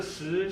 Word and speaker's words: Shi: The pronunciation is Shi, okay? But the meaning of this word is stone. Okay. This character is stone, okay? So Professor Shi, she's a gear design expert.